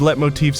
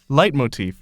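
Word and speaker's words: leitmotif: of a sudden these let motifs you've been hearing throughout the game how you pronounce that motifs okay Google how do you pronounce let motifs light motif okay all of a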